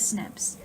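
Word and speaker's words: SNP: as single nucleotide polymorphisms the term single nucleotide polymorphisms are commonly pronounced as snips are the genetic variations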